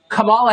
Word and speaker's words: Kamala: um hosts on fox her name is pronounced comma like the punctuation mark this guess is correcting